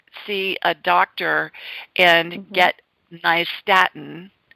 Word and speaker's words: nystatin: a doctor and get nystatin, which is spelled NYST as in Tom, AT as in Tom, IN, nystatin.